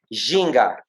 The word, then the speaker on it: ginga: The first one is ginga.